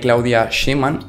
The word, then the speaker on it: Claudia Sheinbaum: los mexicanos y mexicanas, y es que según Claudia Sheinbaum, me parece que es como así se pronuncia, que esto lo ha comentado en ESPN,